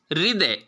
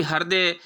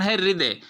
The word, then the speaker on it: हृदय: कि उच्चारण है वे उच्चारण है हृदय इसका उच्चारण हम भूलवश बहुत विद्यार्थी हृदय इत्यादि करते उच्चारण हृदय इसके साथ भी वही